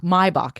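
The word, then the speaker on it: Maibock: I feel like I've been drinking my weight in Maybach or Maibach. Maibach is how it's pronounced this season, which is sort of the springtime equivalent of Oktoberfest from Germany.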